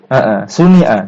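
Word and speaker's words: صُنِعَ: Suni'a, diproduksi gitu maksudnya.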